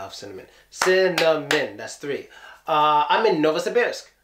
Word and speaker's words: Novosibirsk: that's three I'm in novosibirsk how many syllables are know is the best no ball see bears yeah four syllables okay or we can